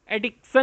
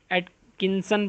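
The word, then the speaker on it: Atkinson: नाम आप जैसे पढ़ लें, जॉन डब्ल्यू एटकिंसन पढ़ लें या एटकिंसन पढ़ लें, टी को साइलेंट कर लें, जिस तरह आपको ठीक लगता है। एटकिंसन ही पढ़ लें तो बेहतर है, ताकि स्पेलिंग लिखने में भी मसला ना बने।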